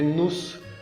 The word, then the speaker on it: nous: bien, pero dijiste nous. Acuérdate que no se pronuncia la S.